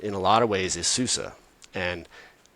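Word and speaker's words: SUSE: And uh for anyone listening that is in that boat, it's Sus, which is part of the challenge, too, is it isn't said like, you know, you don't say it like it like it's spelled.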